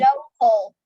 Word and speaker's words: local: local. Local. Okay. Local. That's on the first syllable.